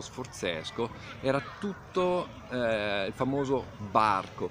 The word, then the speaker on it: barco: Fate conto che da qua verso il castello Sforzesco era tutto il famoso barco, proprio con la B si pronunciava, sulle cartine compare così.